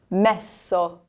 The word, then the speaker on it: messo: Okay, now we have two S's. We already said there's a soft sound when there's a double S. So the word is messo.